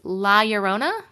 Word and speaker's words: La Llorona: saying it right before was it eurona because it's two L's right two L's is a y right so it's la yorona that's a movie I